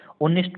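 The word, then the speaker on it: honest: ऑनेस्ट को देखा, ऑनेस्ट में आपको उच्चारण करना है, तो आप कहेंगे उच्चारण होता है ओ नेस्ट। इसमें एच क्या है? साइलेंट है। आप कहेंगे एच साइलेंट है इंग्लिश में, ऑनेस्ट उच्चारण हो रहा है।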